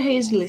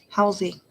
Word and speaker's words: Halsey: And yes, I believe it was a Hazley song. Halsey. How do you pronounce that? Halsey? Halsey. Mm-hmm.